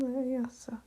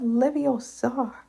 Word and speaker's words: Leviosa: Besides, you're saying it wrong. It's Leviosa, not Leviosa, Hermione corrected Ron.